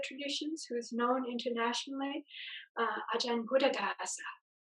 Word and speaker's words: Buddhadasa: One of the other famous teachers from Thai Theravada traditions, who's known internationally, Ajahn Buddhadasa. In Thai, he's called Ajahn Buddhatat. So same, but pronounced a little bit differently.